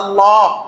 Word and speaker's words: আল্লাহ: আল্লাহর নামটা উচ্চারণ করেন আল্লাহ কি বলেন আল্লাহ আল্লাহ শব্দটা যখন উচ্চারণ করবেন আপনার মুখটা ফাঁকা হয়ে যাবে আল্লাহ বলেন আমার নামটা